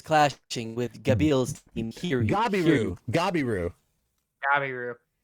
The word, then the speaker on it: Gabiru: Gabiru. It's spelled... All right, here's the thing. We're going with the anime pronunciation of things. They actually call him Gabiru. Yeah. So if you see Gabil, say Gabiru.